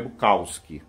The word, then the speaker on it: Bukowski: sentido né porque assim eu acho o técnico pronúncia correta do nome dele é bucausque muita gente chama Chaves do causc mas eu